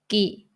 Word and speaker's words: กิ: It should be pronounced as กิ gi, because it's a combination of กอไก่ g plus สระอี i. So gi, gi.